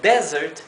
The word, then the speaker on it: desert: Desert es postre s no solamente cambia la pronunciación de la s sino que también cambia la sílaba tónica en Desert que es desierto la sílaba la primera sílaba mientras que en Desert que significa postre la sílaba tónica es la segunda sílaba la última y tenemos destitute